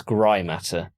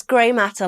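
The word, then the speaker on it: GrAI Matter: absolutely stupidly um they they call themselves gray matter but gray is spelled gr ai ai yeah so that's grimatur right it's gray matter like in the brain right it's one of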